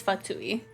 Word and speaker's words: Fatui: of Samu okay and it is fatui I was just pronouncing it wrong it's Li and dice